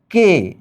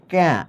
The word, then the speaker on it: কে: কে সে এখানে কিন্তু এটার উচ্চারণ তুমি এইভাবে ক্যা এভাবে বলতে পারবা না এটার উচ্চারণ তুমি শ্যা এভাবে বলতে পারবা না তোমাকে বলতে হবে কে কেন এইটা সর্বনাম প্রশ্ন সর্বনাম